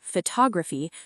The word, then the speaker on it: photography: A native speaker saying photography stretches the first syllable, pho, while rushing through the others. If you say it with equal emphasis on each syllable, you sound non-native.